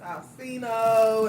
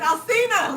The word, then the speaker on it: Alsina: I was reading one on August Alsino and August Alsino. Yeah. Alsino. That's how you say it. It's Alsina with an A.